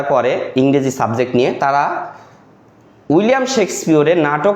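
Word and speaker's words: William Shakespeare: আজকে যেহেতু 23শে April উইলিয়াম শেক্সপিয়ারের। অর্থাৎ আমরা উচ্চারণ যখন করব উইলিয়াম শেক্সপিয়র। হ্যা এইভাবে একটু জোর দিয়ে উচ্চারণ করব।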